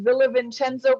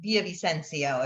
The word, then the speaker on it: Villavicencio: Well, there's like the English way and then the Peruvian way. So I say Villavicencio, but it's more like Villavicencio if you're saying it correctly.